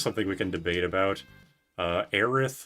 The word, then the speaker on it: Aerith: Aerith versus Eris. Like TH versus S. I know it's Aerith, like it's supposed to be air and earth, but I'm personally an Eris enjoyer with the S.